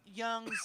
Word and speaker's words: Jung: it's pronounced junk or it looks like jung but it's pronounced young right but then i